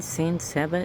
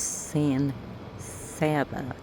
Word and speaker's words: San Saba: And I was like, "Son, you mean Sans Saba?" S A B A. He goes, "Yeah." And I went, "It's pronounced San Saba, not Saba."